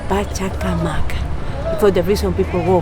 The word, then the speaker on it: Pachacamac: Pachacamac.